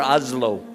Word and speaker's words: Oslo: Oslo or Oslo?